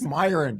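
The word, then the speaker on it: Miran: It's Myin. Just say Myin.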